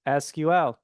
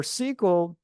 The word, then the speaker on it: SQL: Now, for SQL, as we usually pronounce, other people say SQL, doesn't matter.